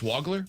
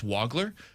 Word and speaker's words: Wagler: Wagler, who apparently it's Wagler, by the way, not Wagler, it's Wagler for him.